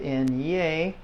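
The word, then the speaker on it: eñe: n n and a and then you have n yay that's the uh like the word the inye and Canyon that we have okay uh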